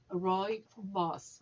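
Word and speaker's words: rooibos: and we pronounce it roy boss like roy and his boss or roy who is a boss boy boss so how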